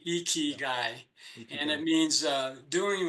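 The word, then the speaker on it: ikigai: k i g Ai and the eyes are pronounced e eeky guy and it means uh doing what you were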